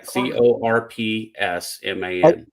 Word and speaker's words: corpsman: Yeah, CORPSMAN. I just really don't like the P, but you're saying it's Greek, and that's fine. Yeah, like if you had a corpse, like in a morgue.